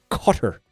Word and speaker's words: Qatar: Uh we're not supposed to pronounce it Qatar anymore. We're supposed to pronounce it cutter. Um for like a cigar cutter.